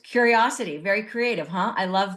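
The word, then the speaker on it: Curiocity: it's spelled c r IO City but it's pronounced curiosity very creative huh I love that now what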